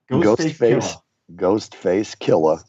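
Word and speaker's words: Ghostface Killah: Ghostface Killer. Gotta say it right. Killer. Say it from your throat.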